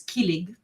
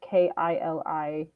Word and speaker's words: kilig: The word is kilig, Kilig.